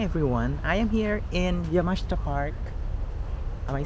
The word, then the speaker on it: Yamashita: you good morning everyone I am here in yamashta park am I saying it right yep perfect